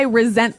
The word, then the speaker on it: resent: Well, Anthony said, I resent that. Resent. Resent. Okay, now this is spelled exactly like resent, like with an S, right? That's right. R-E-S-E-N-T. But you pronounce it like a Z.